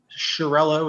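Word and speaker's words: Chiariello: to begin with yes my name is shirello it's spelled c-h-i-a-r-i-e-l-l-o and my address is 790 clemont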